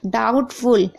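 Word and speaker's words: doubtful: डाउटफुल यहां पर भी आप देख रहे हैं। देखिए टी से पहले बी है तो भी साइलेंट है।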